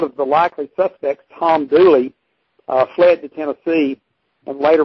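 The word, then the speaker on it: Dula: certain thomas c doolin actually pronounced dearly as in the song hang down your head tom dooley uh and the infamous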